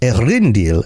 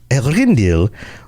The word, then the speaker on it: Eärendil: At last, in the year when Eärendil, or Eärendil, I think is how they pronounce it sometimes on some of the shows. Eärendil, there we go.